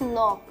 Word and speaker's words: knock: And last is knock, k is silent. So just make a n, knock.